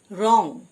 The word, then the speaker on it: wrong: রং, WRONG রং মানে ভুল, W silent.